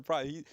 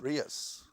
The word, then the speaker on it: Preuss: I said, how'd you end up with a name like Price? And the way it's spelled, Preuss, so it's a German name, but Dr. Price, very, very articulate, very, very intelligent man.